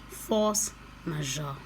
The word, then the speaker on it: force majeure: I used Google to try to pronounce it today. So, force majeure.